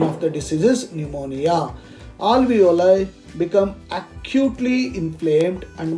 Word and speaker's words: pneumonia: one that is pneumonia don't say pneumonia p is silent pneumonia it is acute infection